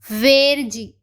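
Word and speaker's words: verde: तो चलिए अब एक एक करके इनकी प्रोनाउंसिएशन को देख लेते हैं। तो फर्स्ट है आजू, आजू, आजू मीन्स ब्लू। वेरजी, वेरजी, वेरजी means green.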